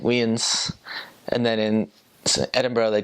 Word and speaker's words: Edinburgh: my calls like oh I'm gonna go to Edinburgh and she's like no never see that again how you say it really oh it's like it's Edinburgh so Edinburgh that's they also